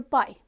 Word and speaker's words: pi: this constant is denoted by the Greek letter Pi pronounced as Pi its Valu is 3.14 approximately or 22 upon